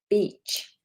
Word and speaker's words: beach: So we don't want I, we want E. So really extend that sound.